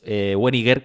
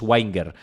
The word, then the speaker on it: Wenger: entrevistamos, que por cierto no es Weniger, como decía, sino es Wenger, porque me lo dijo... fuera de cámaras me lo dijo Ryan, dijo, has entrevistado a Jeff Wenger, y dije, vale, se pronuncia así, y el tío no